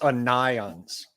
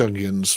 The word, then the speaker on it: Onions: comment on stream, but Carl says it's unions. Well, it's not, it's onions, basically, because that's how you say it in English. No, he might pronounce it that. He might have hoped it was pronounced that way. Everyone who's English is going to pronounce it onions.